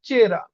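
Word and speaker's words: вчера: চেরা মানে কি গতকাল চেরা এটার উচ্চারণ হবে চেরা এইযেভিটা উচ্চারণ হবে উজ থাকবে তার মানে সিচাস মানে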